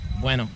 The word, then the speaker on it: Bueno: We keep saying Bueno. What's the proper pronunciation? Bueno.